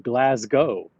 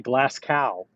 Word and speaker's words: Glasgow: Glasgow. Um, that's where I'm from. Most Americans say Glascow. Yeah, that's how it's spelled. I don't say Glas Cow. I say Glasgow or Glasgow.